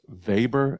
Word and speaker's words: Weber: a German sociologist and it's pronounced Weber and not Weber I've had people make